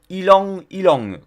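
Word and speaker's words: ylang-ylang: alors c'est de l'huile ylang ylang complète ylang ça s'écrit y l amg deux fois dont qui languit langues y lan j'ai deux fois c'est une huile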